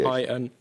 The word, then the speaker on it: Qin: You can spell it if you're unsure of the pronunciation. Q-I-N.